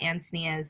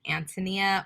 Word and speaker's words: Antonia: a little thing about antonia's name is there's two ways to pronounce it antonia or antonia and i get asked